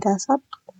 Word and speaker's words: 다섯: Jadi dasat ya, ini bacanya dasat.